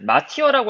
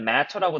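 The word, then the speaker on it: martyr: 마티어라고 알고 있는데 matter라고 발음되더라고요.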